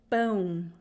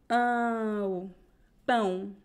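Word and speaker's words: pão: do pronounce both vowels it is very important to pronounce the two vowels so it's not it's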